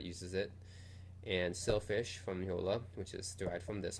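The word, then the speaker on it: Jolla: to form a company called Yola I think that's where it's pronounced Yola which created an operating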